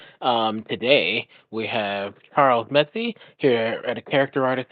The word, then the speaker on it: Metze: Um, it's actually Charles Mets, but don't worry, like everyone I've ever met always pronounces the E at the end.